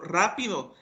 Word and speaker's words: rápido: Por ejemplo, rápido tiene acento en ra, entonces como ahí está el acento, pues esa es la sílaba tónica.